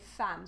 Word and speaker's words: femme: Femme, we don't say femme, we say femme. So E-M-M, we change the sound with the sound A.